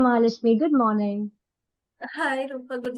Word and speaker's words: Mahalashmi: Mahalashmi good morning. Hi Rupal. Good morning Rupal. Right. Rupal. And am I pronouncing your name name right? Mahalashmi.